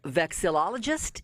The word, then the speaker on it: vexillologist: one the first question i i tried to pronounce this correctly a vexillologist is that correct that is correct yes that's